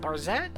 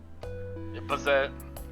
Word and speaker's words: Bazett: Is it Barzette? Is how you pronounce it? Bazette. Bazette, that's what it is. There's no R.